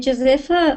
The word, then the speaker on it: Josefa: And let's say hello to, is it Josefa? Is that how do you say your name? Hi. Hi. I'm Josefa.